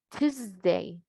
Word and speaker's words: Tuesday: Vemos que se escribe con S y pronunciamos con Z. Por eso les digo, si logran encontrar, tener esos diccionarios, excelente. Tuesday, Tuesday.